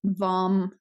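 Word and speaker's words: vam: matter the sacral chakra the Mantra is pronounced vom as in thumb and this one removes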